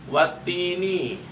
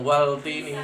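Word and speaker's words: وَالتِّين: Maka cara membacanya adalah menghilangkan suara al, ya. Watini bukan waltini.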